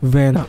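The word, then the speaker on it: Werner: you want to have i'm going for timo verna okay so i'm going for timo when i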